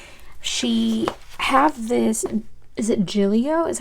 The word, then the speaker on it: Gillio: super super sweet she have this is it Giglio is how you pronounce it anyways it's this beautiful Tien and